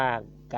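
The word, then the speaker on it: ការ: ก็ ก็ แล้ว แต่ ถ้า สะกด ด้วย ร เรือ จะ ไม่ อ่าน เอา ร เรือ นะ ครับ เช่น กำ ว่า การ งาน ที่ ที่ ผม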